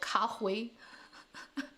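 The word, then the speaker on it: 咖啡: funny thing yeah so some accent would pronounce cafe is the mandarin of coffee cafe so that's like cafe almost exactly translated but then certain places will call it kahui because there is no f do you know any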